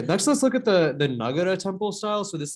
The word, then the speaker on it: Nagara: I might accidentally say Nagara, which like is actually like a Vrdhi derivative of the same word. But like it is apparently correctly pronounced Nagara.